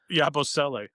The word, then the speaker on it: Yabusele: Oh, and Yabuli. I've been trying to learn his name. Is that? Did I say it right? Yabuli. Yep, Yabusele.